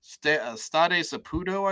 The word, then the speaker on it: Stade Saputo: They've never been to Energizer Park, so Stade Saputo, I believe, is the pronunciation of their home ground.